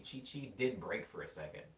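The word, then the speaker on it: Qiqi: i'm learning right like there's a character named chichi and it's spelled q-i-q-i and like my brain thinking about like dragon ball z chichi did break for a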